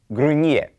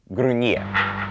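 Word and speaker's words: gruñir: Here's another example of an IR verb, grunyer, which means to grumble. Remember the N with the tilde over it is pronounced like nie. Let's start with the conjugation of grunyer.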